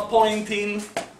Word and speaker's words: Poynting: mostrarvi e del teorema di nel signore chiama point inning è uno dei nomi più felici della fisica perché la pronuncia del suo nome poi che se si